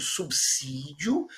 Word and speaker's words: subsídio: Começamos com o clássico exemplo do subsídio, aprendemos a falar hoje subsídio, quem já sabia, né, reforçou aí a correção, e quem não sabia aprendeu e não vai mais deslizar.